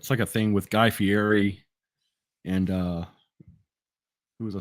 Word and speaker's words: Fieri: huh Guy Fieri okay guy Guy Fieri yeah Fieri that's right you gotta say it right if